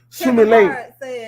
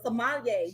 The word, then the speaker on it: sommelier: The word Sumile.